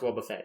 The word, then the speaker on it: Wobbuffet: it a war Buffet I know it is pronounced Wobbuffet everyone I think we're all on board of